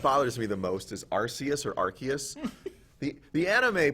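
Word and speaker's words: Arceus: me the most is arus or archus the the anime pronounces it archus but that's definitely a soft C there's no way like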